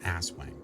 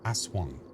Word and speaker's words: Aswang: No, not Aswang. Aswang. I was learning how to pronounce that correctly.